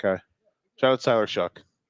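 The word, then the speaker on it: Shough: Shout out to Tyler Shuck. And his name is spelled like like show. Like though. Yeah. Like do but with an S.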